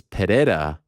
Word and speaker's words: Pereira: say pajera he says Pereira but I've always been taught with the Portuguese you don't pronounce the r but then what about